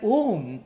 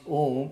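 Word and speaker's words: ॐ: now uh when we the first of our ah is pronounced with mouth open who is uh pronounced mouth half closed ma is pronounced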